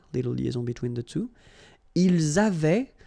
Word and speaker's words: ils avaient: Ils avaient, so remember, even if we've got this A-I-E-N-T, well, we don't pronounce it, or we don't pronounce this E-N-T, so we get avait, okay, phonetically.